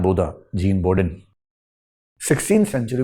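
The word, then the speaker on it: Bodin: आदमी जिसको अंग्रेजी में बोडिन तरीके से लिखते हैं बी ओ डी आई N French उच्चारण इसका बोधा होता है जी हां बोधा जीन बोडिन 16 सेंचुरी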